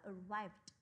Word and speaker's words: arrived: ấy, arrived là đến, arrived đi sau chữ v đúng không ạ? Đuôi ed đọc thành chữ d, các bạn sẽ đọc là arrived, được chưa nào?